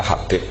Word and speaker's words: Habib: Itu di harokatnya kitab itu ada yang nulis Hubab. Yang benar, oh enggak, yang benar itu bacanya Habib.